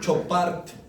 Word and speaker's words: Chopart: Lis Frank y Chopart. Así se escribe como son de Chopart.